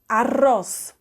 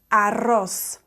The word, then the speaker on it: arroz: video somewhere around here so for now it's um arroz arroz you put your mouth at the top of your um your tongue at the top of your mouth just behind your teeth and and kind of blow yeah so if you can't